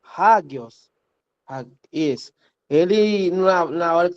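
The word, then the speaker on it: ἅγιος: Hagios. Isso, hagios. Observe que no início nós temos uma aspiração áspera. Aí eu vou colocar aqui na transliteração o H.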